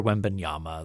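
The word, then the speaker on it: Wembanyama: the hype is over the over uh Victor wendbanyama the first round the first overall pick is that how that name is pronounced yes he's like seven five wow that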